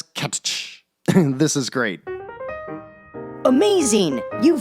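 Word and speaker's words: Cattch: for 6.99 with catch which is the word catch but with two t's i'm gonna pronounce it as catch this is great amazing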